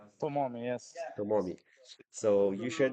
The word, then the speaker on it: Tomomi: It's how do I pronounce it? Tomomi, TOMOMI, yes.